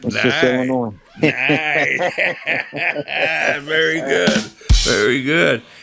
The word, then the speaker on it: Illinois: And uh on a full disclosure, uh is it Illinois or Illinois? Yeah, that S is silent. So, all right. Illinois.